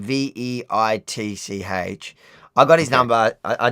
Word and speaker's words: Veitch: Charles Weiss. I'm pronouncing it wrong. So Charles and a surname Veitch.